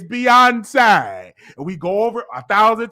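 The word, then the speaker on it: Beyoncé: So the staff will say, okay, this is how you pronounce Beyonce. It's Beyonce.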